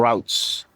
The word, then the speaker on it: routes: I'm taking the British pronunciation of R-O-U-T-E-S.